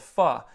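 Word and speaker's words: phở: I love Vietnamese soup, and there's a soup called pho.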